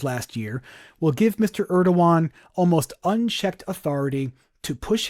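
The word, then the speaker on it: Erdoğan: Erdogan, that's how that's pronounced.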